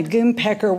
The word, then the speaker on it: Goonpecker: If buying a jail was not a curveball, I was also swept off my feet by a goon pecker. Yeah, Goonpecker. You spell that Goonepecker.